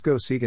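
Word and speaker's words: Go Seigen: life and times of wu ching yuan pronounced go segan in japanese wu is considered the greatest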